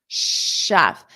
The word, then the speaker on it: chef: notice this the shf Chef I hear a lot of students pronounce it incorrectly because they have that voiced sound but it's shf sh so it's unvoiced shf shf shf repeat